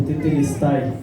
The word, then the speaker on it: tetelestai: senhor colocou na minha responsabilidade somos o grupo tetelestai né meio complicada a pronúncia mas o significado é Está Consumado né